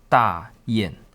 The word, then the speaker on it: Dayan: However, it's not the case for Dayan, or its pronunciation is Dayan.